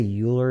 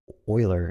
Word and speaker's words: Euler: sampling method you pick I think people say Euler is pretty good not Euler I think it's Euler is the way you pronounce his name but I think 20